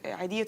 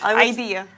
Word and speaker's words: Eidiyah: dirhams to Eidiyah to divorced women, widows and people of determination, orphans and retirees in Sharjah.